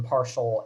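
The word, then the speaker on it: ∂: use the same symbol um for for a partial derivative as we do for a regular derivative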